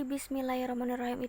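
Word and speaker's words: بسم الله الرحمن الرحيم: yaitu yang berbunyi Bismillahirrohmanirrohim kesalahan yang sering terjadi adalah orang-orang tidak mentasbihkan huruf roknya jadi membacanya hanya ngerti Bismillahirrohmanirrohim nah seharusnya Rodi Bismillahirrohmanirrohim itukah datasheet nya jadi seharusnya membacanya pun bertasydid atau hurufnya seperti di double kan bacaan Basmalah ini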